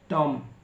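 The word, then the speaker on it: tomb: बाद टी से पहले एम के बाद टी से पहले बी आता है तो बी को पढ़ा नहीं जाता है जैसे लिखा सीओ एम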